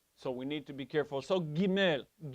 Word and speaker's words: Gimel: Now, it has the sound of a hard G, but what we mean by the hard G is from the back of the throat. It's a guttural. We get the word guttural from the G, from the Gimel. It's not G, it's G. Gimel.